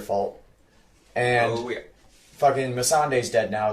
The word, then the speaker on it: Missandei: Fucking hate the way that the directors pronounce her name in the behind the scenes. Miss Sunday.